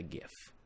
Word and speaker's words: GIF: Okay, I need to look for a Dream Daddy GIF, because that's how you pronounce it, a GIF.